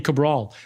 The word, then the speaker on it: Cabral: very strangely even strangely even my last name Cabral like the AI could not say Cabraw right so I use AI